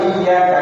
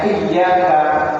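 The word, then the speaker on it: إِيَّاكَ: Kalau dibaca dengan tanpa tasdid maka maknanya adalah sinar matahari.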